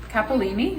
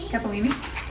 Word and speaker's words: capellini: I have this really thin capalini. Is that how you say it? Capellini.